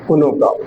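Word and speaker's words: Konopka: Okay, P is you have to kind of keep it silent. Kunuka.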